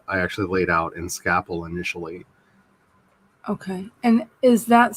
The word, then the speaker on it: Scapple: actually laid out in Scapple initially. Okay. And is that spelled like scaffolding? It's SC Apple. Scapple. Scapple. Gotcha. SCAPPLE. Okay. Okay. Like Scrapple, but without the R.